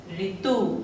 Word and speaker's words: ऋतु: जब हम शब्द बोलते हैं, कोई भी शब्द बोलते हैं और उसमें हमें पहले आवाज आती है री की, तो उसके लिए हमें क्या लिखना होता है?